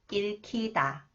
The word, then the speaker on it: 읽히다: This one, and 히읗 comes after the final consonant 리을, 기역 sounds 크, 읽히다. 그것은 사랑이라고 읽히다.